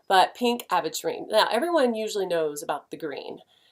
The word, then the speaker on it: aventurine: Some people call it adventurine, but it's not spelled like adventure, so I don't say that. But pink aventurine.